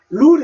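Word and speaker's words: rule: 자룰 규정 법칙이라는 뜻인데 룰 이죠요 우로 읽으면 에다가니까 룰 되죠 룰 룰이라는 단어가 되는데여 뒤에이는 소리 나지 않습니다 됐죠 있어도 소리 내지 마십시오 그냥 룰입니다 룰 자 근데요 자를로만 읽지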